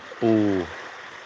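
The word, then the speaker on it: ปู: Uh and and the B here is kind of a combination of sounds. It's a B and a P.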